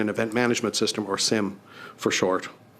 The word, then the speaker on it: SIEM: The Auditor General also highlighted our project to develop a Security Information and Event Management System, or SIM for short. SIEM, some people pronounce it.